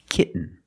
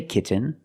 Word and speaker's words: kitten: makes a different sound we have to make a stop T and Link it to the N example kitten you can say kitten but most people say kitten you do the stop T kit you don't release and then you fall to an n k when you make